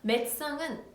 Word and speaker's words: médecin: médecin은 짧고 빠르게 발음해 주셔야 돼요.